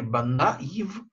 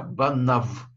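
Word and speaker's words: בָּנָיו: Дальше идет буква Юд, которая не читается, и буква Вав, которая читается В. Мы читаем не Банаив, а Банав.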